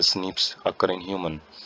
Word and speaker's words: SNPs: Pronounce as स्निप्स occur in human.